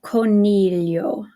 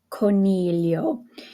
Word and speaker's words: coro: and and again the co o we have the hard C because it's an O okay go back up here again c a CO CU is a hard k sound so Coro Coro and then we have